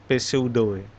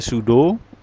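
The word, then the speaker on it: pseudo: lancar Sud apopisis iya Angel bacane sudo pesudo dibacanya sudo 100 apopisis mudah-mudahan enggak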